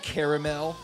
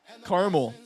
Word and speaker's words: caramel: Only uppity types say caramel. Well, I think that's a pretty apt description of the English culture then. Uppity types. All you uppity Englishmen. Pronounce it the way it's spelled? Caramel. Caramel. C-A-R-M-E-L. Caramel.